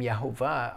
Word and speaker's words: Yahuah: try to rebuke us for using the name yahuwah i would suggest that maybe your understanding of